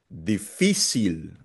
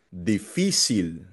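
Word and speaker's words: difícil: Difficil. Hindi siya difficil ha. Difficil nasa fee kasi merong asento sa letter I.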